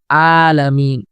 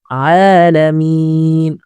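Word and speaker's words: عالمين: আমরা অনেকে বলি আলামিন। এখানে হবে আইন। এর উচ্চারণ হবে আলামিন।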